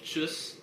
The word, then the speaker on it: Tschüss: And then between friends or family, there's the less formal Tschüss, which has a very sharp S sound at the end.